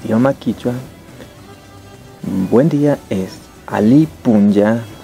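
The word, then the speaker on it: alli punlla: Eso, traducido al idioma quichua, buen día es Ali Punya, o sea, buen es Ali y Punya de día, ¿sí? ¿Y cómo se escribe?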